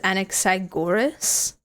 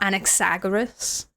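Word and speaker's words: Anaxagoras: The correct pronunciation even himself even himself didn't get right is anexagorus. Anexagorus. Not anexagoras.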